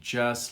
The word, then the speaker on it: just: Notice the just, we don't actually voice the T very loud. She just laughed. You almost don't hear the T. It's implied, but not voiced.